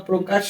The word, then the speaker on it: প্রকাশ: যে এই প রফলা প্রকাশ শব্দটির প্রথম বর্ণের সাথেই রফলা রয়েছে যেটা রফলা উচ্চারণের প্রথম নিয়ম যখন কোন শব্দের প্রথম বর্ণের সাথে রফলা হবে সেক্ষেত্রে এর উচ্চারণটা ও কারণ হবে বানান করে পড়ি পর